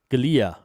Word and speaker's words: Giulia: Alfa Romeo how do you pronounce that? Giulia.